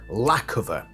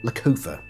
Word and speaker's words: Lackofa: that I'm like okay it's definitely lacova rather than loua or something like that so definitely without a